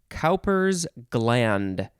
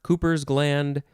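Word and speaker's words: Cowper's gland: know ah next is calpers gland two words you could also say cooper cooper's gland or maybe copper's gland it is capital c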